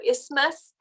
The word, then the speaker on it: isthmus: then we have the isthmus so the th part of that is usually is pronounced silently so isthmus so let me just